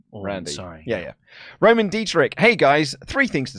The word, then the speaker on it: Dietrich: from two Fridays ago the CH in my name is pronounced like the hissing sound at the top of the throat so you don't have